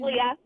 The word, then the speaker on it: Leah: Is it Leah or? It's Leah. Leah. Okay, Leah.